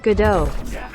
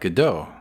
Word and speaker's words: Godot: How do you pronounce it? Godot.